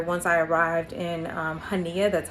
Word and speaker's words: Chania: That was actually what I was going to do here once I arrived in um Haneia.